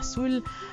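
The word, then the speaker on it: ghassoul: ensuite mélangée avec du gars saoul qui est une argile marocaine mais qui se prononcera saoul alors j'en ai mis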